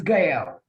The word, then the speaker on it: Gail: guys so um and i'm pronouncing your name right gael or gayle i want to make sure i'm not messing up my example it's gail yeah okay perfect now